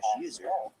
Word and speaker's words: usr: by the system administrator, /usr, often pronounced /user, which contains software that